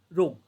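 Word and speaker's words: rogue: इसका मीनिंग होता है रव, रोग, ओके, जी साइलेंट रखेंगे प्रॉपरली।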